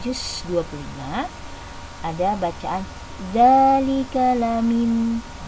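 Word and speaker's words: لمن: 25 ada bacaan dzalika lamin. Hati-hati, lamin bukan liman, karena memang kebanyakan liman, tapi di sini dalam surat Asy-Syura ayat 43 dibacanya lamin bukan liman ya, hati-hati, lamin.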